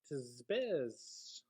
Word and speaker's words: Tempest: Remember, it is pronounced Tizbez.